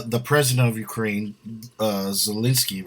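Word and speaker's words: Zelensky: president of ukraine uh zielinski right is how you say oh yeah what are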